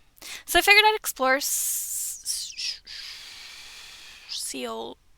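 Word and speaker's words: Seoul: I don't think it's just soul, but I do not speak Korean. It's like soul.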